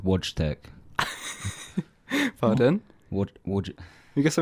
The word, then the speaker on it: Wojtek: a little bear called watch deck what would you guess I mean you throw yeah so spelt woods tech pronounced voice Nick with yeah yeah and it's